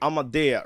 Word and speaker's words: AAMADEA: AAMADEA, right? That is the right pronunciation of her name, and she calls this one Damage.